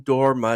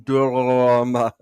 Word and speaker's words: dorma: I sang in Italian, and I had a literal Italian opera singer tell me, "Okay, but you have to roll your R's. It's not nessun dorma, it's nessun dorma."